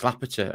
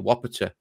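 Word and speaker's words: Łopata: been calling it out people saying it's Lapita and lavator I meant no we've got a Polish friend it is actually a Wapato because I haven't pronounced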